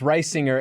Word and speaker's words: Risinger: So a lot of people say Risinger Yeah. or Risinger. Yeah, it's Risinger, and it's annoying because it is like rising is in it, like the word rising.